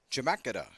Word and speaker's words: Chemeketa: Chemeketa, that's the way they told me to pronounce that thing.